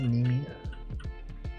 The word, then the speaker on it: Nimi: Is it Nimi? Is Nimi, right? Nimi pronounced like Japanese. Nimi.